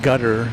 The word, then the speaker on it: Qatar: And I apologize to any Qatarians or I've heard it pronounced gutter as well, but that I don't know, at least in English, even though that might be the correct pronunciation in English, that doesn't sound as uh palatable as Qatar.